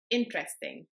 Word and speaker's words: interesting: When I say the English word interesting, I emphasize the first syllable more than the second and the third one. Interesting rather than interesting or interesting. Finding out how to stress words is really easy.